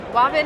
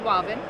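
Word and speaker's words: Wavin: it so he created walvin which stands for water and vinyl oh okay and so ever since then it's probably pronounced right that is how it's pronounced are water and vinyl water and final yeah and ever since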